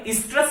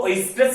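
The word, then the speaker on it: oestrus: और इसी को क्या कहा जाता है, स्ट्रेस साइकिल कहा जाता है। ठीक है, स्ट्रेस साइकिल, कुछ लोग इसको ओएस्ट्रेस साइकिल भी कहते हैं, बट इसको स्ट्रेस साइकिल, ओ इसमें साइलेंट है।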